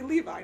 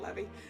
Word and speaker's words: Levi: It's supposed to be Levi, not Levy.